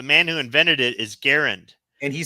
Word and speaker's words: Garand: yeah so they pronounced it the way it it's spelled garant but it's really garund and yeah he doesn't care and if you